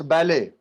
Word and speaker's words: ballet: T is silent. It's ballet.